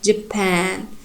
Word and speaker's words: Japan: So you should pronounce it Japan. The second syllable should be strong, primary stressed.